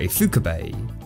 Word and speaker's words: Ifukube: Ishiro Honda returns to direct, who did the original Godzilla film, along with legendary composer Akira Ifukube. Yep, I made sure to pronounce it correct this time, thank you guys.